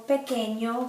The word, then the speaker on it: pequeño: The ñ sounds like the GN in lasagna. For example, the word España, Spain, or pequeño, small.